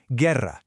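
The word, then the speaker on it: guerra: And the U itself, it's completely silent. It's just there to do a job. Just look at these examples. Gerra. You hear the G and you hear the E, but that U in the middle is totally invisible to your ear.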